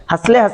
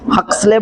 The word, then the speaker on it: Huxley: Sliding filament theory, हसले, अब क्या बोलना है किसका, वो है हसले, HUXLEY। कौन दिया है थ्योरी का नाम, हसले नाम है बंदे का, साइंटिस्ट का नाम है, स्पेलिंग तो यही है भाई। अब तुम जो पढ़ना है पढ़ लो, हक्सले बोलो या हसले बोलो, नहीं उतना ही रहता।